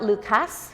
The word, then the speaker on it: Lucas: also known as the Luca yes that'll be on your test it's it's spelt Lucas but it's pronounced Luca so I used to